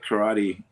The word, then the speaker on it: karate: So, how can you not teach karate? You signed my black belt from Japan and everything else. He goes, I don't teach karate. I teach karate. Karate. That's how it's pronounced.